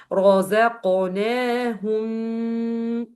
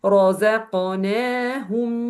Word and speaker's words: رزقناهم: So don't pronounce this meme here like this. رزقناهم. No, this is incorrect. So don't make this sound for this meme. So it's gonna be like this. رزقناهم ينفقون.